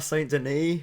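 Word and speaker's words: Saint-Denis: now we move on to benoit saint denis i believe is how you say his name taking on gabriel miranda i've been calling him benoit saint denise um i might still call him benoit saint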